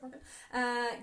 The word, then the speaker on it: Longforgan: Hello in Longforgan. Is that how you say it? Yep. Longforgan.